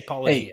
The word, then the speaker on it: Paulogia: Just Paulogia. Like, how hard is it to just say Paulogia? Hey, I may not be the best Christian apologist in the world, but I can pronounce Paulogia.